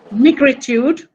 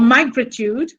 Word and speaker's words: migritude: What you're going to be talking about, Shailaja Patel's migritude or migritude, pronounced either way, is particularly interesting to me because I have seen Shailaja Patel perform the spoken word of this genre.